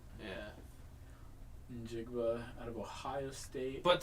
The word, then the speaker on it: Njigba: Oh, so the N is silent? Yeah. Or, well, I guess it's not. No, it's not. It's more of an IN. Yeah. Njigba out of Ohio State.